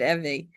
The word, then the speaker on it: Evie: So in First Lie Wins her name is Eevee. It is okay. My name is I write I spell it the same way, Evie, but I pronounce it EIE.